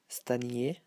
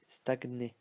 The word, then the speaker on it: stagner: And for the ny sound, sometimes it's spelled as if it was ny, but we pronounce it as in English, so gn, as in stagner. We don't say stagner. We say stagner.